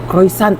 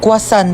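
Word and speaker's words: croissant: Croisant daw. Croisant? Ah quasant po.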